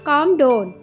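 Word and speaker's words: calm down: पुरसुकून हो जाओ, काम डाउन। इसमें एल साइलेंट हो जाएगा, इसलिए काम डाउन पढ़ेंगे।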